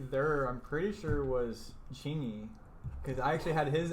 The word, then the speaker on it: Chingy: And actually, right there, I'm pretty sure was Chingy. Because I actually had his album too. Who is Chingy? Chingy. Is that spelled like it sounds?